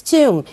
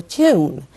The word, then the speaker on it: tomb: It's tomb. B here is silent of course. Don't pronounce the letter B here. So tomb lunar lunar related to the moon.